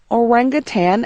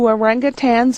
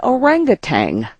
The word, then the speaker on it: orangutan: name of the ape many people wrongly say orangutang with a g at the end maybe because orangutans are